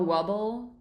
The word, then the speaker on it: Wable: So, can you talk a bit more about how Wubble Do I pronounce it right? Weble. Weble way. Weble. Willing and able Weble.